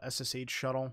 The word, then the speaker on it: sshuttle: tool of this section s shuttle i've seen this also called ssh shuttle or something similar like that a lot of people just call it shuttle just because it's easier to pronounce this tool is quite